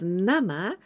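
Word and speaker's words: 生: to get born well but here we pronounce nama and it means ro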